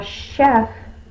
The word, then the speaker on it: chef: Now chef the sh sound is usually spelled with the sh. But because of its word origin, where the word comes from, it's a French word.